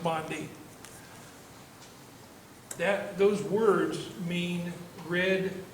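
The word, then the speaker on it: bonddu: in the welsh language it's v-o-n-d-h-u but it's pronounced bondi that those words mean red beetle red beetle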